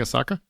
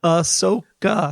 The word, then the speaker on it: Ahsoka: Like a soccer? Just checking. Also, it sounded like he said a soccer. I don't know. How do you say it? How do you say it? Ahsoka.